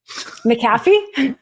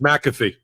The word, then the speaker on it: McAfee: unwind the guilty plate you have an interesting way of pronouncing the judge's name maffy it's ma it's McAfee oh my gosh I